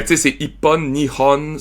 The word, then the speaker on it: Nihon: Mais en tout cas, fait que tu sais, c'est Ippon, Nihon, Sanbon. C'est Ich, ni San avec Hon à côté, mais à cause de la liaison, il rajoute Ippon, Nihon, Sanbon.